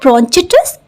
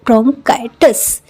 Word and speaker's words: bronchitis: सो इट इज नॉट ब्रोंचिटिस, इट इज ब्रोंकाइटिस।